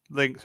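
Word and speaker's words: Linx: Anybody else think what Links is that? How you say his name? Links, yes, links.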